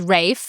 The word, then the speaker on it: Ralph: He often tells people that his name rhymes with safe signs. Okay. Because people get it wrong so much they call him Ralph. And he's not Ralph. Not Ralph. He's Rafe. Yeah. Like safe and fines.